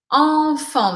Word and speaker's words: enfant: A primeira se escreve EN, a segunda se escreve AN, mas eu pronuncio da mesma forma, nas duas sílabas. Enfant. Lembrando que o T aqui é o final. Não tem som de nada em francês.